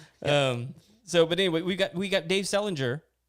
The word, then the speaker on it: Selinger: It's Dave Selinger, just like Yes. JD Salinger, Catcher in the Rye.